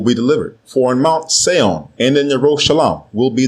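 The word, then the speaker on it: ציון: In Mount Seon and in Yerushalayim, which are mispronounced as Zion and Jerusalem, will be deliverance, as Yahweh has said.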